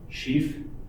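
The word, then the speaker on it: sheaf: Sheath is spelled S-H-E-A-F, sheath.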